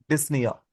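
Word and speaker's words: dyspnoea: डिसनिया P silent है।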